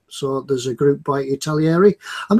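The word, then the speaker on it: Italeri: It's Italieri. I used to say it's one of those names that people always pronounce as Italieri.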